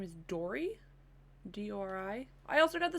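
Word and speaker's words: Dori: I want I think her name is Dory.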